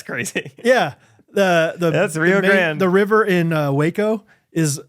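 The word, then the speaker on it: Rio Grande: fist everything in Texas is pronounced wrong the Rio Grand yeah that's crazy yeah the the that's Rio Grand the river in Waco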